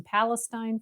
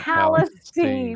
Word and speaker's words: Palestine: You have to take a word that everyone pronounces one way and then put it in East Texas.